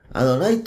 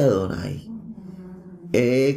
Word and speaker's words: Adonai: concatenado de mucha información veamos por ejemplo adonay Adonai todos todos los traducciones significa el señor o mi señor y la gente dice adoray cuándo se encuentra el nombre del eterno que